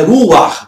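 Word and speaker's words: רוח: Então é Ruach, tem um patá furtivo aí.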